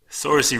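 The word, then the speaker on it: Saoirse: saying in an interview I've been wondering for so long how to pronounce that because I'm always like so sore see Sarah yeah si si si yeah sore see runnin Lady Bird and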